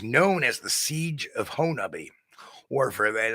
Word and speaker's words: Honobia: It was known as the Siege of Honobia, or for that, I'm pronouncing it like the locals. It's spelled like Honobia, but it's pronounced by the locals as Honobia.